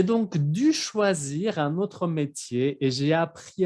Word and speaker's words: métier: Métier, no olvidan que la R al final no se pronuncia, métier.